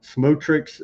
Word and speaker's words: Smotrich: Denver says personally uh he finds it hilarious that uh Smotrich's name sounds phonetically the same as smoke trick.